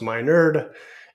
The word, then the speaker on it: Minard: I'm your host Dr Minard pronounce my nerd and I am honored